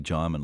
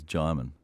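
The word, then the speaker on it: Djimon: I met him, because everybody wants to say his name a different way because of the way it's spelled. You know, and he said to me, "Jaimin, like Simon." So from then on, every actor I introduced him to, I said, "This is Jaimin, as in Simon, Jaimin Honsu," right?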